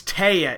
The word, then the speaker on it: Taya: They said that, I guess it's Taya is how you say it.